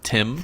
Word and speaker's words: Thames: Before we get corrected by some keyboard warrior, I would like to say that it's actually pronounced Thames.